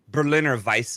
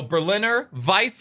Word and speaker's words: Berliner Weisse: and passionfruit funky old Berliner Weisse a Berliner w in the W is pronounced with a V that's right yes okay same thing okay so Berliner Weisse a-- by say if